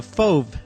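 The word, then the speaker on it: Fauve: this particular work is the fove technique fov is spelled f-a-u-v-e it is the use of very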